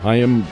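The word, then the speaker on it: Chaim: the first name of ham is how it's pronounced hyim Bloom very bright and very much very much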